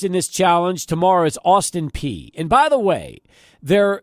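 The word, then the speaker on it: Austin Peay: their first opponents in this challenge tomorrow is Austin P and by the way there the school is Austin P but p e a y but it's pronounced P not pa um it's p so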